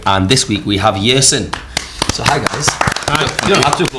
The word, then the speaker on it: Yersin: Is that pronounced right? Is it Yersin?